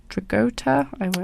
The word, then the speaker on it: Dragotta: Yeah, and I do not know the first name, but it's Dragotta.